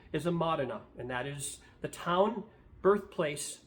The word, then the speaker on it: Modena: I've heard it pronounced Modena and Modena in all different ways, but I'm going to stay with Modena because I believe that's the proper pronunciation of that word.